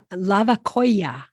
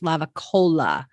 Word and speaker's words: Lavacolla: Laguna de Castilla, Lavacolla. Lavacolla, You know, I always hear that pronounced lavacola, but it's lavacolla.